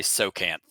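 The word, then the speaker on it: Tsojcanth: n t h uh I'm just gonna say the J is silent so it's probably so can't right um that's also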